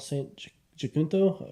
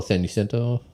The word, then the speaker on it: San Jacinto: So I was doing the Mount St. Jacinto. I don't know how to say it. The trail there. Oh, San Jacinto. Yeah, Okay. San Jacinto, I think it's called, mountain trail.